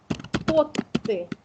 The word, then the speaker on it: потты: да, по велительном наклонению, поэтому будет «потты», так, и ударение на первый слог, «вытащи».